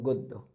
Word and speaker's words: গদ্য: অনুরূপভাবে গদ্য বলতে পারবো না। এটাকে উচ্চারণের ক্ষেত্রে বলতে হবে গদ্য। অর্থাৎ গ একটা ওকার আসবে। বদ্য আশা করি আপনারা সকলে